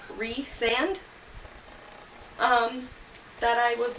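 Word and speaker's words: Rhys: been saying it like rice & M and it wasn't until I finished the book I found the glossary at the back that specifically says you pronounce it like Reese and um that I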